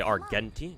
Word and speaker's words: Argenti: I think it's a hard G. Okay. Argenti. Gotcha. I'll call him I'll try I'll try to remember to call him Argenti from now on.